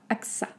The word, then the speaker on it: AXA: assez facile je pense ac ça ac sa axa ax après danone danone donc attention le or